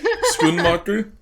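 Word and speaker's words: Schoenmaker: then how did I how do you say her last name spon moer spoon mocker yes okay I've always been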